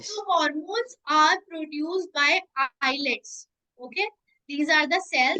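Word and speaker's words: islets: So hormones are produced by eyelids. Okay. These are the cells. This is the group of cells. Okay. Yes. They produce the hormones. Eyelids. S is silent in this.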